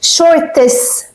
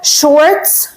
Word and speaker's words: Shorts: views on the Youtube shorts videos and note for your English Pronunciation Shorts , Shorts Short Shorts not (Shor-tes) (Shor-tes) no is wrong Pronunciation okay, so we say shorts of course , you